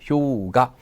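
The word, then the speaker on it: 氷河: 뭐라 합니까 자 효 여기서 원래이 하자는 카라고만이 읽습니다 여기서 가가 됩니다 효가 노 가니와이 빙하는 자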